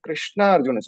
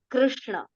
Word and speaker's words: Krishna: okay they use right so actually the Sanskrit pronunciation is in between so region wise the difference you will find Krishna Krishna right but actual pronunciation is Krishna Krishna it is in